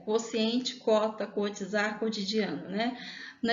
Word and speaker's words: quociente: Nesse caso, o U não soa. Então, quociente, cota, cotizar, cotidiano. Muitas vezes a gente pronuncia com U justamente para tentar identificar a diferença, mas a pronúncia em si mesmo é só como se o U fosse mudo, né? Como se ele não existisse.